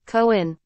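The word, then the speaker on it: kōan: Pronounced in Japanese as 2 syllables, koin.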